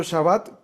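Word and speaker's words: שבת: O sea que ¿cómo se pronuncia? Shabbat. O sea, es una V dental. ¿Cómo se dice así? Cuando haces así, V, porque esta es de labial, ¿no? V, Shabbat.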